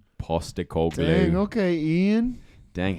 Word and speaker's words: Postecoglou: Ange Postecoglou. Postecoglou.